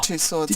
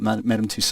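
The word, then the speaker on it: Madame Tussauds: Madam Two Swords. No, no. Is that just the Royal Museum? I went to Madam Two Swords and I had nightmares for months afterwards about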